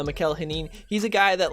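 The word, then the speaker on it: Mikel Janín: though um yeah so mikhail hanin i believe is how it's pronounced i used to pronounce it just the worst way but i believe it's pronounced uh michael henin he's a guy that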